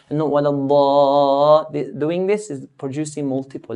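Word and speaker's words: الضالين: We should not vibrate or shake the mad, because doing this is producing multiple letters. We only want one letter and stretch that one letter. So we do it in a straight line.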